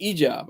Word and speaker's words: hijab: For giving me the hijab, or the ijab. I don't think they pronounce the H, but the hijab.